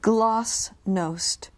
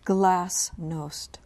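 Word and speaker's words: glasnost: you repeat the word gloss nost it can also be pronounced glass no uh glass no g l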